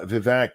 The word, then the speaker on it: Vivek: more I see of the VAC is actually apparently how you say his name look guys I'm trying to learn uh Vivek the more I see